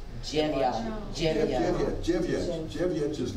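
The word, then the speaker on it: dźewjeć: Jevyat.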